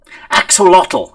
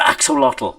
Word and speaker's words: axolotl: I can't remember why now, but axolotl, that's not how you pronounce it. The correct pronunciation of axolotl is axolot, because it comes from that, the dialect of the origin, axolot.